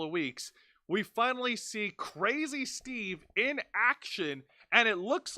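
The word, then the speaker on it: Crazzy Steve: they're pronouncing his name it has two Z's the way you pronounce that is crazy not crazy crazy Steve okay so crazy Steve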